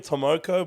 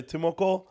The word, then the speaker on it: Timoko: And I'll be calling him Tomoko, but the commentators say Timoko.